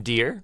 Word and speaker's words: Dheere: is not our here the H is silent but he's not please welcome to the vo meter Tom dear how you doing Tom